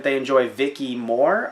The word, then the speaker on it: Viki: were said they enjoy Viki more I'm pretty sure Vicky's way to pronounce it VI ki because with Vicki they